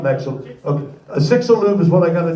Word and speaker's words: Chicxulub: Yeah, that's called Chicxulub. Chicxulub, not Mexulub. Okay, a Chicxulub is what I got to do to my car.